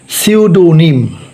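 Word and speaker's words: pseudonym: যেমন আরেকটা শব্দ সিউডনিম এখানে পি এসই ইউ A see you এখানে পি এর উচ্চারণটা উজ্য থাকবে পি এর উচ্চারণটা হবে না তাহলে পিকে মনে মনে বাদ রাখতে হবে এস ইউ সিউ তারানে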